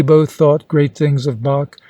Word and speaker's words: Bach: thought great things of Bach whom I found out was calling quite incorrectly batch and Mozart who also